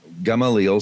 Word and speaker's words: Gamaliel: Hanina be Gamaliel gum allele is that right pronouncing it correctly yeah okay rabbi Hanina be gum allele said it also prohibits blood drawn from a